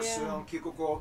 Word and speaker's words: Søren Kierkegaard: notable figures like author Hans Christian Andersen, philosopher Søren Kierkegaard, or whether... That's actually how you pronounce his name.